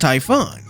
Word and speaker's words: Typhon: o That's because hamo uses the OG spelling and pronunciation of the name from Greek myth which is pronounced Typhon Typhon is also where